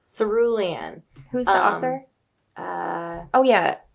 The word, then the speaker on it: Cerulean: just purchased how do you say it again cerulean cerulean who's the author oh yeah Amy Ewing that's